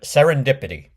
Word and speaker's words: serendipity: In this seventh word of the week video, we're going to cover the word serendipity. Serendipity. It's it's a long one. There's five syllables.